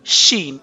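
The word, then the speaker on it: ش: of this letter so you can sound this letter as she with shashing sound okay so how you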